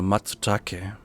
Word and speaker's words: matsutake: Here we have Tricoloma matsutake. Rico breezes through the Latin and Japanese pronunciation as if it was nothing. Okay, spricht man dann das U aus? Matsutake. Okay, nee, spricht man nicht.